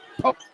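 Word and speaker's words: Pollock: Poke spells her last name. Pouble O C K. Pronounces it with a long O. Poke.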